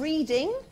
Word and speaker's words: Reading: from the University of Reading that's how it's spelt but it's pronounced reading which confuses people hugely we also had a